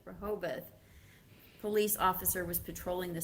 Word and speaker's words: Rehoboth: And then on March 15th, now we're back to the pronunciation. How do you say that? Rehoboth. Rehoboth.